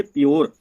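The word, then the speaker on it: pure: जब किसी वर्ड में यू के बाद आर ई आए, किसके बाद आए, यू के बाद में आर ई आए तो यू को यो से पढ़ते हैं, यो से पढ़ते हैं। तो देखिए दोस्तों पी यू आया ना, यू आया, यू के बाद में क्या आया, आर ई, पी यू आर ई आया तो इसको पढ़ेंगे प्योर, सी यू आर ई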